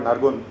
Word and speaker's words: Nargundkar: So congratulations to the MCs who were here earlier, because most people make me out to be a gunda in other places. So pronouncing the soft the is actually a right thing to do.